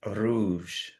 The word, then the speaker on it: rouge: And then at the beginning of words, so we had colors, and the color red is rouge, rouge. Rouge. Rouge. I find it really hard to roll my R's, and I know that